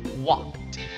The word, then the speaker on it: walked: Okay, the ed there, guys, is pronounced as t, not d. Alright, so it's walked.